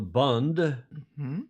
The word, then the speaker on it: Bund: ever been in and that is called the Bund not the boond like you pronounce it in German the boond you know